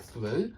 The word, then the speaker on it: through: discussion I'm always interested so through does rhyme with hu Hugh and it's this ooh sound ooh ooh through hu do it's the same sound yeah if i' put